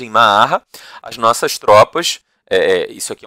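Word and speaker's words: معرة: Em Ma'arra, e aí é a forma como os árabes pronunciam o nome dessa cidade, em Ma'arra, as nossas tropas, isso aqui é um relato de um cristão, tá?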